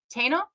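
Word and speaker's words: Taíno: mean that they're not taina and I said it wrong the first point it is Tana okay um and I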